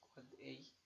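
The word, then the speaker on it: AAAA: So for A, an end device IPv6 address pronounced quad A.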